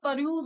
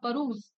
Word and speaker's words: peruse: So इसका pronunciation peruse होगा, peruse.